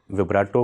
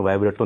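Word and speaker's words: vibrato: मैं थोड़ा गलत प्रोनाउंस कर गया था, असल में वाइब्रेटो नहीं होता, विब्राटो होता है।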